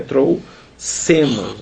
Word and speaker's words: trouxemos: no morro que a gente escreve x é trouxemos né gente escreve trouxemos mas pronuncia trouxe sendo né 2s não faz